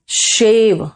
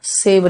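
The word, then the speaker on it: shave: मॉप the floor, शेव and take bath, शेव, सेव नहीं, सेव तो हो जाएगा बचाना, SAVE, है ना।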